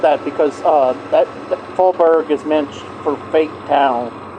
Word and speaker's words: Faubourg: Faubourg.